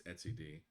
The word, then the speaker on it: etcd: the name is that it's Etsyd. So, um, someone the other day asked me to phonetically write that down and I just split the word Etsy from like at the Etsy website and then D de.